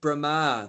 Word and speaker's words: brahma: mix it up with brahma the first person in the universe first living being his name is brahma that's a long a brahma brahma that's a long a at the end this is brahma so